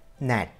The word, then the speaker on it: gnat: Gnat. Here, the silent letter is G.